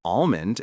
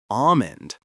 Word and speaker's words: almond: The general rule for almond is that the L is also often silent. While you might hear some slight regional variations, the most common and accepted pronunciation is almond. Think of it as rhyming with the word diamond without the dye.